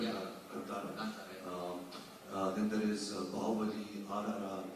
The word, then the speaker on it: Kantara: Yes, I've been starting with KGF, Kantara, if I can, that's the right way to say it, Kantara. Yeah. Kantara.